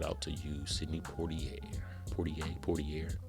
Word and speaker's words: Poitier: Poitier. Had a little French accent on there, Poitier.